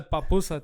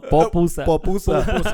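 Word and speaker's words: pupusa: so I had a papusa today. Did you? Yeah, it's good. Is that how you say it? No, popusa.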